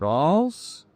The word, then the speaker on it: Reims: Apparently, this is one of the most difficult, if not the most difficult, French cities to pronounce for Americans. It's difficult. Apparently, it's pronounced something like Reims, because it really just